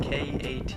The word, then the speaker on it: Katahdin: Well, we raise Katahdin Sheep, and that's spelled K-A-T-A-H-D-I-N.